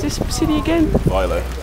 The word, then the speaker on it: Vejle: How do you pronounce this city again? Vejle. Vejle, okay.